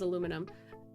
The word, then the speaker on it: aluminum: was outside my window oh yes aluminium versus aluminum internationally it's spelled aluminium with the IU M well the the aluminium but we spell it aluminum for some reason but we don't like a lot of kids aren't taught that we're just taught that we say aluminum and the others say aluminium this is how you